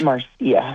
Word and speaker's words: Marcia: Is it Marcia, or do you pronounce it Marcia? Many people do either way. It's Marcia.